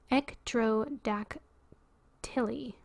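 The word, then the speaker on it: ectrodactyly: how do you say this okay it's e-c-t-r-o-d-a-c-t-y-l-y ektro-dak tilly split hand cleft hand derived from greek ectroma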